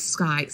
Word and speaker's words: scythe: In one hand, he bore a great scythe, right? That's how it's pronounced. Scythe.